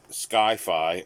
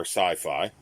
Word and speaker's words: sci-fi: the definition of sci-fi sci-fi pronounce skyfi or sci-fi an abbreviation for science